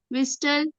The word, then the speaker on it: whistle: Whistle and whistle. विसल Why विसल teacher? विसल, टी नहीं लगाएंगे. विसल. Whistle. T silent है इसमें.